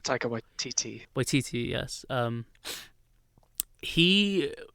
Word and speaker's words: Waititi: Like, I love more, and I think Taika, I always get his last name wrong. Taika Waititi.